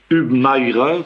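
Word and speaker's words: Hubmaier: qui se nomme Baltazar UBI comme on dit en allemand H U B M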